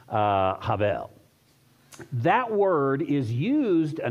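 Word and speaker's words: הבל: Hebrew actually is Cav there's um almost that H that guttural H sound at the beginning of it and uh probably the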